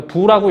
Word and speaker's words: VOO: 그래서 이걸 VOO라고 하고요. 부라고 읽어요. 우리가 통상.